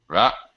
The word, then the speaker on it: developed: P is a voiceless sound. So Developed. Developed. That's it. Developed. Okay. No, just a P and a T. Developed. Developed. You're putting a vowel sound. You're saying it sounds like developed.